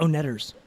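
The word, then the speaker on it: The Oneders: Wonder the o-neders yeah it's pronounced own errors but at the end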